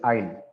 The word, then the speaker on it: aisle: get married in the pew so this is isle okay a-i-s-l-e and another word which sounds the same i it's pronounced the same way but islv is short